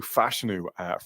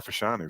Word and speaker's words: Fashanu: player um nol has Olu fashanu or fashanu sorry as I as I've I've been corrected on the on the pronunciation there still fash that's an